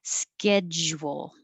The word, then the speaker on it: schedule: schedule and it kind of gets fuzzy the j here the ja doesn't have to stay a perfect job because you're going to round your lips for the w and that makes your tongue change position and lose some of the um seal so you're you'll